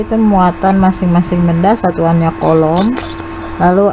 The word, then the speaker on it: Coulomb: Ini bacanya hukum Coulomb.